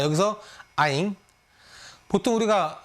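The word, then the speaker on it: anh: 누나 다 이렇게 단어가 틀리지만 베트남은이 남자는 나이가면 아잉으로 다 통일되고 또 면 찌 그건 나중에 배우겠지만 찌찌는 이제 언니 남자가 부르면 누나 이렇게 되는 겁니다 자 여기서 아잉 보통 우리가 어 성적 공부를 안 안 했던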